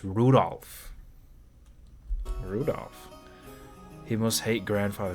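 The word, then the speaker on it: Rudolf: Anyways, this guy's name is pronounced Rudolph.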